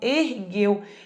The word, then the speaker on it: ergueu: Esse U não tem som, então peraí. GU antes de E, isso é um dígrafo. 2 letras, um som, ergueu. E eu falei que o U do dígrafo jamais será pronunciado. Então, o grupo QU e GU, sempre que forem dígrafos, não podem ter esse U pronunciado. É o caso de ergueu.